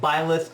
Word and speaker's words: Byleth: The predictions, Bleeth is pronounced Byleth.